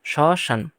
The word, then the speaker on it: শ্মশান: ম আছে এজন্যে চন্দ্রবিন্দু হবে বা এর মত শশান পরে ম শব্দের মাঝে থাকলে দ্বিতীয় উচ্চারণ হয় পদ্ব দ্বিত মানে দুইবার উচ্চারণ হবে